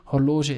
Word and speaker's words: horloge: as in english horloger again g which is pronounced as a french g hologen is also a loanword